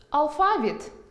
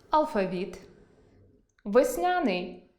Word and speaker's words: алфавіт: Наприклад, алфАвіт – алфавІт,веснЯний – веснянИй,зАвжди – завждИ,зокрЕма